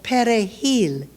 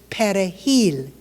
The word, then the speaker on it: perejil: In Creole, the language of the Haitian peasant, R is pronounced like W, and there's no Spanish J, so it's pronounced hard against the back of the throat to give us perejil.